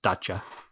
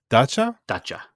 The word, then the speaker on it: Dacia: And so just to go back, Dacia is actually pronounced Dacia. Dacia, and their first cars when they first were founded in the 60s were licensed Renaults.